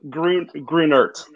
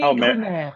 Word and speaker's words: Grunert: Grunert. Grunert. So you do pronounce the T. Mm-hmm. Yeah, okay. That's what I was wondering. Yeah, Grunert is the French way. Grunert.